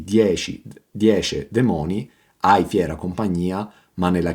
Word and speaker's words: demoni: graffi Alo con l'uncino breve parentesi sulla pronuncia corretta della parola demoni non quindi demoni il singolare è il demonio quindi il plurale è i demoni poi a inizio del